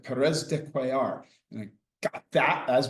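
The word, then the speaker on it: Pérez de Cuéllar: she spoke some Spanish, how to pronounce the secretary general from Peru. And she said Perez dear.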